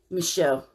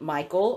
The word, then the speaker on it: Michel: gonna tell you about Anna Lisa and Lisa Michelle what okay so this is how it's spelled okay a NN e li es eso